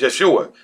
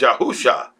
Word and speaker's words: Yahusha: A lot of people say his name is Yeshua. No, his name is Yahusha.